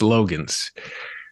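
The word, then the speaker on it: Loggains: probably be low gains yeah but now it's Logan's all right so you mentioned we got Spencer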